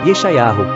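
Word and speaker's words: ישעיהו: Isaías, que em hebraico se pronuncia, Eschau, que por sua vez significa: "O Senhor é salvação, foi um grande profeta no antigo Israel".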